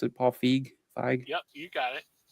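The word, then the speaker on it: Paul Feig: How do you pronounce it? Paul Fig.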